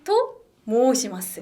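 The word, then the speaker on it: と申します: 태기 토 모시마스. 모시마스. 앞에 와타시와까지 넣어서 와타시와 태기 토모시마스. 그렇죠. 근데 발음하실 때 토하고 모 사이를 좀 끊어주세요.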